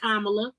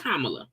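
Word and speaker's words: Kamala: slogan it should be see even pronouncing her name wrong she know damn well it's kamla she know it's kamla K LOVE let's manipulate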